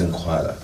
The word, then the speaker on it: Nkwala: Actually, they pronounce it as Nkwala. Nkwala? Yes. Doesn't it have like a click sound? Which one is which? There is Nkwala and Nkwala and Nkwala. However you want to pronounce it, as long as it sounds the same.